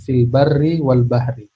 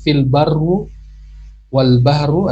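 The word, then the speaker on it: فِي الْبَرِّ وَالْبَحْرِ: Ya, telah nampak kerusakan di daratan dan di lautan, fil barri wal bahri. Ya, kalau ada yang mengatakan zoharul fasadu fil barru wal bahru, maka dia salah dalam pengucapannya atau belum belajar nahwu.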